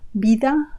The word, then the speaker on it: vida: Have you noticed the sound in vida? That V has a B sound. So in Spanish, the B and the V have an identical sound.